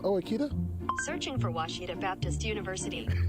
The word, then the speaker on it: Washita: Searching for Washita Baptist University. Back in Texas, everybody pronounces it Wichita, but really, it's Washita.